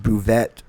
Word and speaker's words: Buvette: Also, it's pronounced buvette. Red- Rhymes with Corvette.